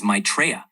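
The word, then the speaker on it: Maitreya: It's typically pronounced as maitraa.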